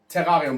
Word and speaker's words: Terrarium: It's actually pronounced Terrarium, but like, do you see this title?